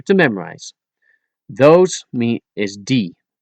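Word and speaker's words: die: Those mean is d. Pronounce it and spell it as d i e.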